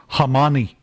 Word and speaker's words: Khamenei: Khamenei. Mm-hmm. All of a sudden now that's pronounced Hamani.